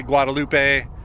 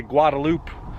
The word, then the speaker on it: Guadalupe: Where I'm from, people say Guadalupe. I know in Texas, people say Guadalupe.